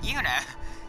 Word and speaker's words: Yuna: Oh no, I said it right. Yuna. Not Luna.